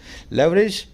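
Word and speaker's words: leverage: लेवरेज या इसको लीवरेज भी बोलते हैं, लेवरेज या लीवरेज दोनों ही तरीके से प्रोनाउंस होता है वर्ड।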